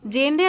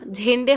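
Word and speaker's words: Jhende: ঝেন্ডে বলে জেন্ডে না ঝেন্ডে হবে। জেডের উচ্চারণটা ঝড়ের ঝেন্ডে হবে।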